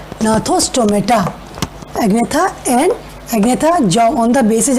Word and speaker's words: gnathostomata: Now this second division is gnathostomata. That is G is silent. Gnathostomata, means those are having jaws.